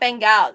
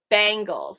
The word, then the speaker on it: Bangles: That's like bangles. So it's not Bengals, it's bangles. It sounds like the bangles that I wear.